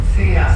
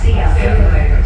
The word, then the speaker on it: Sia: Welcome to Loveline and say hi to, am I pronouncing your name wrong? It's C. Sia. Sia.